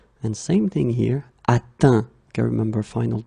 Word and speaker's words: atteint: Atteindre, atteint. Okay, so this nasal is quite tricky. Tricky. Normally students can have some difficulties because they're a bit stressed to see this E-N. Phonetically, it's un. Atteindre, and same thing here, atteint.